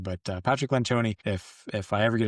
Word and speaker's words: Lencioni: Patrick Lenchon, it's spelled Lencion is what it looks like, but it's pronounced Lenchon. But uh Patrick Lanchone, if if I ever get a chance to